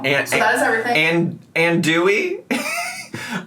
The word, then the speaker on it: andouille: And Dewey? I love how she just skipped over the letter N in the word andouille and came up with addoli.